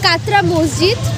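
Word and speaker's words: কাটরা মসজিদ: আগেই বলে দিচ্ছি আমি, ভিডিও শুরুতে আমি জানতাম না প্রপার নেম, আর ভুলভাল স্পেলিং দেখার জন্য আমি ভুলভাল প্রোনাউন্স করেছিলাম। মৌসুমীদি বলো, ব্লগ হচ্ছে তোমার। এই জায়গাটার নাম হচ্ছে কাতরা মসজিদ।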